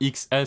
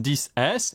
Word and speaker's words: iPhone XS: D'ailleurs, quelqu'un l'a fait remarquer, mais oui, normalement, ça se dit pas XS, ça se dit iPhone 10. Donc c'est l'iPhone 10S, l'iPhone 10S Max.